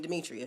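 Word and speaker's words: Dimitria: So I have the name Demetria. D I M I T R I A. Most people that, you know, see this name where I would say my name, they think it has E's in it. No, my name has no E's in it. It's all I's.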